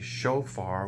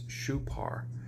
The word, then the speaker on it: shofar: like Torah when it's Thurah, why we say shofar when it's shupar, things like that.